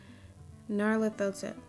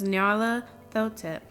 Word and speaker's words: Nyarlathotep: I like to pronounce that name as Nyarlathotep, but honestly, go with whatever you feel works.